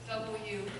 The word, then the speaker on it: UU: His name is UU, pronounced W.